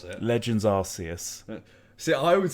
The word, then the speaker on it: Arceus: to pronounce it legends arceus see i would say something wrong that wouldn't be the right name or arceus people pronounce arceus and arcus differently but i say arceus so obviously what is